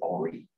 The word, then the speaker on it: Henri: He was French, so he pronounced it Henri. Henri Becquerel.